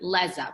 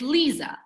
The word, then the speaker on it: Leza: okay look when i'm my name is spelled l-e-z-a everyone wants to pronounce it laza because with an e but it's lisa if somebody gets it